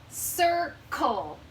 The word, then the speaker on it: circle: So this C has an I after it, so it says S. And this C has an L after it. Is L a magic letter? Nope. So that makes the hard C sound. K. Circle. Circle. That's a tricky word because it has 2 C's and they both make different sounds.